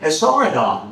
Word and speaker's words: Esarhaddon: Esarhaddon. Very good. Good job with that pronunciation.